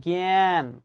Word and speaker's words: জ্ঞান: কেন এটা পারবো না আমি লিখছি জ্ঞান এভাবে জ্ঞান কিন্তু বাস্তবে উচ্চারণটা আমি এরকম করি কিনা জ্ঞান জ্ঞানী এখন তুমি আমাকে বলতে